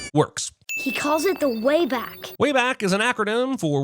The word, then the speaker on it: WABAC: Wayback is an acronym for Wormhole Activation and Bridging Automatic Computer, but WABAC really looks like it should be pronounced Wabak. If nothing else, be consistent with the A sound and call it Waybake, as in, I'd have